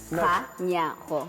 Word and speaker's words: Kganyago: Kganyago.